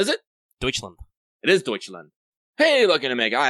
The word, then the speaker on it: Deutschland: I'm going to mispronounce. What is it? Deutschland. It is Deutschland.